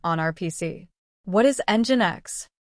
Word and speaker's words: Nginx: What is engine X? It is pronounced engine X. Here N is silent.